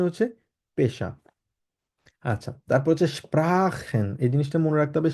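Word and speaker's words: sprechen: পেশা আচ্ছা তারপর হচ্ছে স্প্রাখেন এই জিনিসটা মনে রাখতে হবে স্প্রাখেন খ এর মত উচ্চারণ করব যেমন স্প্রা এস পে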